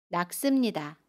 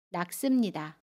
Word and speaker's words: 낚습니다: 낙습니다는 낙습니다 라고 발음해요. 받침 쌍기역은 받침 소리 기역으로 발음하고요. 습은 씀으로 발음합니다. 낙습니다.